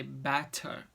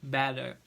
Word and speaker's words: better: So we don't say better like our T. We say better.